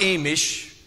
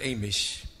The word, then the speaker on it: Amish: know that I'm not a mish someone asked me that already but I'm not a mish that's how you say it here a mish we say Amish on our side but are not